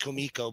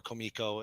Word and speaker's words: Kumiko: better his craft it's pronounced Kumiko by the way oh Kumiko I was literally corrected by a h artist for Kiko and it was extremely embarrassing for